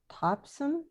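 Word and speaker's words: Topsham: i think and um you were in do you say it topsome maine popsum yeah well done said it right well i'm a new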